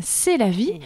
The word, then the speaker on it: Selavie: Vous l'aurez compris, l'abécédaire pour cette émission s'intitule S comme C'est la vie, puisque c'est un très joli prénom et ça s'écrit S-E-L-A-V-I-E.